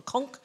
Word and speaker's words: conch: It's called a conch, but the British say a conch.